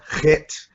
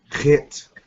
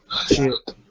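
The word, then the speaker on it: ח: It's the chet. Kind of comes from the back of your throat. Chet, not chit.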